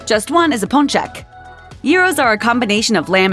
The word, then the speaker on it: gyro: Often served with pita bread, the G is not pronounced at all. So if you've been doing that, you can lay down that burden. Good news. Gyro guy's back.